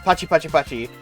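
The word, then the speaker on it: パチパチパチ: In Japanese, internet slang, 888 is pronounced pachi pachi pachi and means clap clap clap.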